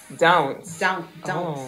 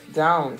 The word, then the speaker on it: dounce: Dounce. Yeah. So ounce with a D in front of it. Dounce.